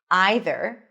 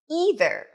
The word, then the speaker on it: either: You can either pronounce it as either long I as in my either or as either.